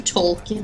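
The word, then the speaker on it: Tolkien: on economy Dear Mr tolin however do I pronounce this say it like you're about to sneeze is that really the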